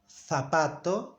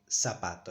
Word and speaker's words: zapato: In Spain they say zapato, and in the rest of the countries we say zapato. In Latin America we say zapato.